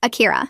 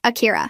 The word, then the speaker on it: Akira: Akira. No, you need to soften the R like this. Akira.